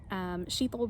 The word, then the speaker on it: Shital: might be used to sheeple rhymes with lethal so that's a good way to remember it and I promise I did not come up with that lethal sheeple worked a lot better